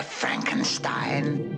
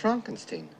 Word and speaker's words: Frankenstein: Frankenstein. Fronkensteen. You're putting me on. No, it's pronounced Fronkensteen.